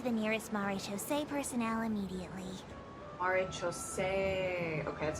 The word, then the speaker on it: Maréchaussée: Maréchaussée.